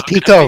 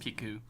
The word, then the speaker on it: Pico: You know it's Pico, right? I've always heard it pronounced Piku.